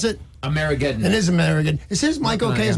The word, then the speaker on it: Amerigeddon: It's called, how do you pronounce it? Amerigeddon. It is Amerigeddon.